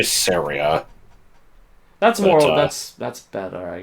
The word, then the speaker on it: Saria: I don't understand people who say Saria. Like, I guess that would make it rhyme with Maria, but it doesn't sound I used to right. just say Saria.